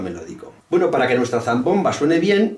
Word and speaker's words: zambomba: de sevilla usando la zambomba que diga zambomba o diga zambomba vale si dice la zambomba zambomba acento en la o la niña